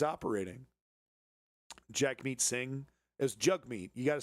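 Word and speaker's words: Jagmeet: Jack meat sing as jug meat. You got to say it jug meat. It's spelled jag meat, but you say it jug meat.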